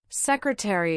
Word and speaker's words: secretary: Secretary is pronounced secretary with 4 syllables.